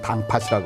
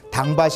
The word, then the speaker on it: 당팥: 그래서 그 당이 좌정해 있는 밭을 뭐냐면 제주도에는 당팥이라고 하거든요. 그렇죠? 당밭이 아니라 당팥입니다. 그러니까 밭이라고 하는 게 프로 바뀌죠. 격한 소리로 바뀌어요.